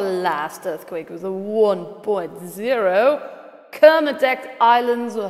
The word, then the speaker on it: Kermadec: Southern California's our last earthquake was the 1.0 kermadec islands were how it's pronounced in New Zealand 5.1 let's see if